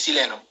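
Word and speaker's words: xileno: se llama pudiera emitir algo que se llama sileno, que se escribe con X, sileno.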